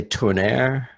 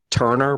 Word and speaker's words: Tourneur: I say Tourneur. It looks like Turner, but it's spelled Tourneur.